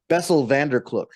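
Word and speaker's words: Bessel van der Kolk: I can't pronounce Bessel van der Kloek correctly because that's how his name's pronounced, I think. Bessel van der Kloek.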